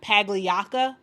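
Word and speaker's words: Pagliocca: And Jeff Pagliacca, that is how you say his last name, Jeff Pagliacca.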